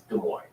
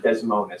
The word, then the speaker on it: Des Moines: she said it i was like no it's des moines okay the town in iowa it's des moines it's not desmond or whatever it looks like yeah and but